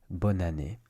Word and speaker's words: bonne année: that when you say bonne année, you should say it like this. Bonne année. So you take the N sound of bonne, and you connect it to the A.